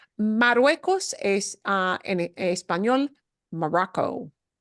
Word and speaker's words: Marruecos: The word you're going to hear in this video is Marruecos. Marruecos es en español Morocco. El país de Morocco se dice en español Marruecos, Marruecos.